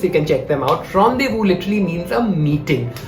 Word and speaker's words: rendezvous: first word the first word is honde vu rendezvous so guys i'm going to put the spellings right down in the below the screen so you can check them out rendezvous literally means a meeting how am i going